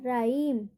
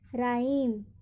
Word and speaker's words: rhyme: जैसे एग्जाम्पल देखिए, RHYME, इसको क्या पढ़ेंगे, राइम, राइम। यहाँ पर एच का उच्चारण नहीं होगा, यहाँ पे एच क्या है, साइलेंट लेटर है। राइम, राइम, राइम, यहाँ पर एच का उच्चारण नहीं होगा। क्यों नहीं होगा, क्योंकि यहाँ पे स्पेलिंग के पहले ही क्या है, RH है, तो यहाँ पर एच क्या होगा, साइलेंट, राइम।